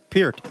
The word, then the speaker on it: Peart: Like Peart.